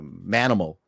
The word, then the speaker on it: Manimal: for uh for a Manimal and you don't get a better life animal better last name than mccorkindale you can't say it like mammal you gotta say it like men that's right and that